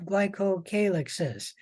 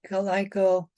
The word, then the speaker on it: glycocalyx: It's usually sticky, and there are 3 types of glycocalyxes, and you can pronounce that glycocalyx, or you can pronounce that glycocalyx. Both pronunciations are correct.